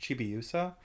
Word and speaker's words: Chibiusa: I think it's pronounced Chibiusa, which is the small Sailor Moon.